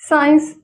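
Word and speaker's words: science: उसके बाद साइंस यहां पर भी ये साइलेंट हो गया।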